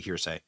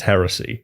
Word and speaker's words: heresy: this this is actually hearsay okay he did mispronounce heresy he did cuz he he just said hearsay again this this is actually